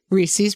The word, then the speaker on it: Reese's: Reese's Peanut Butter Cups. It's Yeah, it's Reese's. Like, it rhymes with pieces.